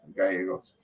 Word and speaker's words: Gallegos: His mother, Rita Gallegos? I think that's how you pronounce that. I think it's Gallegos. I think the L's make a Y sound. Yeah, Gallegos.